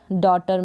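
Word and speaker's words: daughter: फिर ये है डी को ड, ओ और टर, जी एच यहाँ पर साइलेंट है डॉटर में।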